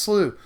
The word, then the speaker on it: Slough: playing by the way you may also notice this canyon slew and yet it is pronounced slew blood dictionary's challenge me